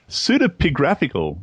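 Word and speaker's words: pseudepigraphical: Pseudapigraphical. Pseudopigraphical book. Am I pronouncing that correctly?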